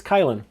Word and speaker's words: Kylin: So atu andu kylin or chillin I don't know how it's supposed to be pronounced because it's a k and a y it's kylin.